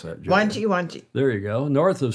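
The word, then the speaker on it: Wangi: North of, now how to pronounce that, Jody? Wanji.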